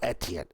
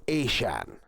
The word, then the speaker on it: Etienne: As sorry, not Etienne. It's Asian. It's just different way that they spell it.